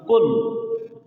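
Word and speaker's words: قل: রাহিম কহু আল্লাহু আহাদ আমরা বলি কুল কাপ দিয়ে এখানে আসল কুল না এখানে আসছে কফ কুল কুল কল দেখন কল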